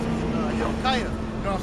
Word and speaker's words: Hilkiah: Slakia. I believe it's Hilkiah, if I'm not mistaken. Yeah, it's Hill. I didn't pronounce it. Hilkiah, you know what I'm saying?